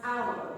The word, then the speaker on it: hour: Pronounce hour. Begins with the vowel quality similar to R. Owl. It goes on to glide towards the back nose rounded area. Then ends with the mid-central vowel. Owl.